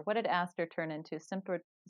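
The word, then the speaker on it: Symphyotrichum: did aster turn into symphotrosium no like symphonia like it's s-y-m-p-h like symphony okay yes it's um you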